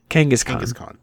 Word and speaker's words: Kangaskhan: Kangaskhan.